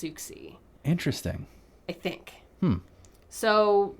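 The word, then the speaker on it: Siouxsie: asks ask suxy and is that how you pronounce it s-i-o-u-x-s-i-e i think i said susie in the previous episode and then doing more research i think it's pronounced souxy interesting i think so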